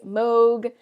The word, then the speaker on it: Moog: And I know that's kind of a tricky word to say, Moog. It sounds like Vogue.